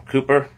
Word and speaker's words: Cowper: I have a couple books about him and William Cooper, or Cowper, however you want to pronounce his name. It's actually Cooper, but it's spelled C-O-W-P-E-R. It's actually pronounced Cooper, and him and John Newton were good friends and knew each other.